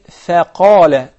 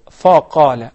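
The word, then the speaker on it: فقال: Okay, we'll say faqala, not faqala. I know that the qaf is confusing because it is one of the tafkhim letters, but the fa is not.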